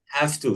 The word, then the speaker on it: have to: انتبهوا من النطق يا have to. شباب. have to يعني الفاء دي تنطق فه لكنها فاء f.